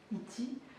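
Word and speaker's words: ity: Démonstratif, iti. Mais bon, pour l'instant, c'est l'un des rares mots où un Y n'est pas muet à la fin, c'est ti, ti, nusinjazanai, iti.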